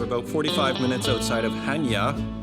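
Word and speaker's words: Chania: is beautiful we're about 45 minutes outside of hanya it's spelled kenya but pronounced henya and it's glorious view of that turquoise sea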